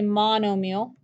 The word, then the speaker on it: monomial: kind is called a monomial mono mile meal m-i-a-l let's pronounce meal like the like anything you eat but it's not spelled that way mono like mono e